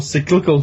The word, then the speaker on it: cyclical: Ah, it's cyclical. Yes. Or cyclical, to use the actual pronunciation of that word.